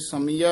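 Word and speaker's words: ਸਮਿਆ: साजन है समिया य समिया ही उच्चारण करना दे मगर कने बिंदी नहीं लानी समिया आ नहीं बोलना तेस जान का क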